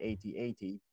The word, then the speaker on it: AT-AT: Yes, I'm pronouncing it AT-AT.